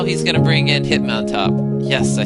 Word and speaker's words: Hitmontop: So now he's going to bring in Hitmontop.